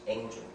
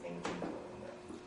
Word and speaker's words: Eng Chun: knows the Chinese character, both of them are actually pronounced Eng Chun.